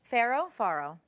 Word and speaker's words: farro: Farro?